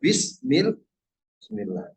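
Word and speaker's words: بسم الله: Kalau bi ismillah dengan nama Allah, tapi kita cara bacanya bismillah.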